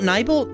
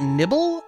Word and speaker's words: Nibel: don't is it nibbleheim is it mount nibal that sounds right but mount nibble n-i-b-e-l but nibbleheim sounds better